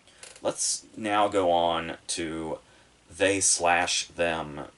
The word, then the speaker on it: They/Them: now go on to they slash them which i only learned recently is how you say the title and and it makes